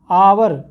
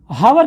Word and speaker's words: hour: आवर, और दूसरा है हॉर्स। अब इनके प्रोनाउंस जब करेंगे तो देखिए, HOUR को हम क्या बोलते हैं? हावर कभी नहीं बोलते हैं, हम क्या बोलते हैं? आवर।